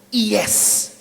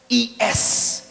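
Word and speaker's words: עץ: itu bahasa aslinya adalah Iyes Bukan Saudara is bacanya iyes Hai artinya pohon yang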